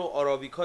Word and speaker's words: عربیکا: همه می‌شناسن نشون و عربیکا رو آرابی کا درص تلفظ می‌کنن ولی ما توی تلفظ ایرانی که خودمون باهاش صحبت می‌کنیم بهش میگیم عربیکا یعنی حداقل رایج عربیکا